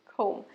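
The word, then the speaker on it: comb: আঁচড়ানোর ইংরেজি কি জানেন বিটা সাইলেন্ট খোম চিরুনি ইংরেজিও খোম চুল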